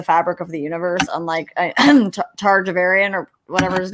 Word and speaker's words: Taravangian: whatever his name is see i always pronounce his name different because i again haven't read the audiobook so i'm like targa varian and that's how we're gonna say it today um taravangian so yeah it's i think sadius